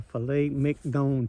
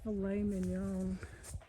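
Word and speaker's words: filet mignon: But I am telling you, this is like the filet mcdon to them. It's filet min.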